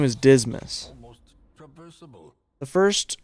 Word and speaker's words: Dismas: Despite its morbid aspect, this twisted I swear to God, his name is Dismas. almost traversable. The first 4 people you get are always the same. The Reynold, Dismas, Surplus.